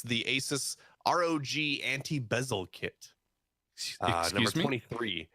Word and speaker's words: ASUS: I think it's pronounced ASUS. ASUS. Or ASUS. Pegasus.